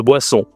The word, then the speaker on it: boisson: Et tu peux bien sûr commander des boissons, hein. Une boisson, c'est féminin. Attention ici la prononciation de boisson. Une boisson avec le nez on boisson. Mais tu peux aussi commander des desserts, hein.